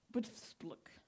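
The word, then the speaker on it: Btfsplk: And then there's, and I have to read this because it's very dicey, it's Joe Butfspluk. And Joe Butfspluk is spelled B-T-F-S-P-L-K.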